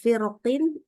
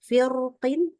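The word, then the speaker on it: فرق: istilanya yang kasrah itu bisa dibaca tebal bisa baca tipis ya ini contohnya adalah in gitu ya Eh firqin bisa dibaca firqin atau firqin boleh mana-mana dua-duanya contoh yang berikutnya adalah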